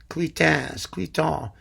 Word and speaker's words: Cluytens: And I picked Cluytens, Cluytens, the guy whose name I never pronounce right. Cluytens. One of you guys told me recently I was doing it right.